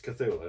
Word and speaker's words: Cthulhu: It's It's Cthulhu.